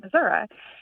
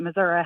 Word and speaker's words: Missouri: the state and no one ever called it Missoura and um so I just kind of wanted